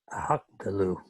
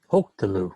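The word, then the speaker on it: הָקְטְלוּ: Um hak talu. Oh, that first syllable. Hok talu.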